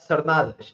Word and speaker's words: Sardanas: So all the way from his abode in Switzerland, I'd like to welcome none other than Nuno Sardanas. I did pronounce that correctly, I hope. More like Sardanas.